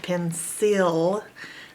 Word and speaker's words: pencil: pencil cancel pencil it's if normally it was phonetically sounded out you would say sale it would say and this would say e pencil can sell but people don't pronounce it can sell and pencil they say cancel and pencil so it's just kind of a lazy way to pronounce those final vowel and L cancel pencil cancel pencil